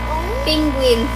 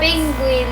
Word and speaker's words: penguin: Pinguin. Penguin. Bisaya ka dapat maayos yung pronounce. Penguin.